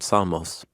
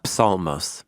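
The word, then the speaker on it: ψαλμός: Psalmos. Smos, which means song. Psalmos. Yeah. Since there's no silent P in ancient Greek.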